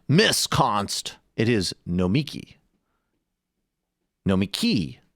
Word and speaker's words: Nomiki: It is Nomiki. Nomiki, not Nomiki. Michael wasn't in studio the day she told Sam the correct pronunciation, but she's a good friend, so please practice and get it right.